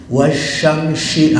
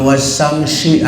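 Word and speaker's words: والشمس: Wasyamsi, sin gede semua tuh kan gitu tuh. Ada wasamsi, keliru-liru. Sin pertama kecil, sin kedua gede.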